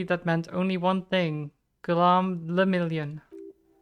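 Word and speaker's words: Guillaume Le Million: For Revacol, your city, that meant only one thing: Gulam le Million. If it doesn't rhyme, you're not pronouncing it right.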